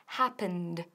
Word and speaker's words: happened: Ahora, cuidado con la pronunciación de happened. Happened. Porque al ser regular y terminar en N, tiene una D bien fuerte.